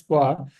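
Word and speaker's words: は: So, Sensei, so for the topic we are pronouncing the particle as va. So, will we get confused, like when we have to pronounce it ha, we will be pronouncing No, va?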